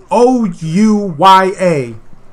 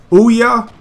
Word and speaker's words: Ouya: the new console uh it's it's o u y a now I think it's supposed to be pronounced Ouya I'm going to say oh yeah it's I think it's Ouya though anyway this is the